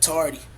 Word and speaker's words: Tardy: But dude, your name is pronounced, right? Tardy, Tardy. I. like you're tardy for class.